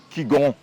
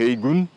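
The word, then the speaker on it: 氣功: trabalhamos a parte do Qigong ou Chi Kung. E essa palavra Qigong ou Chi Kung ela está pronunciada no mandarim no Putonghua. Se for pronunciar em cantonês, a pronúncia é HEI GUNG, ok.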